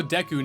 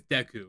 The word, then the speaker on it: Deku: Also, deu nuts. I I my entire life I call them deu nuts. Apparently, it's Deku. So, I've been trying to say Deku, but I think a few deus might have slipped in the video.